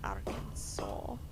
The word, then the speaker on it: Arkansas: What do you mean Arkansas? Fun fact, Arkansas is pronounced the way it is because it had a much higher French population. And so their language affected the name, resulting in something more like...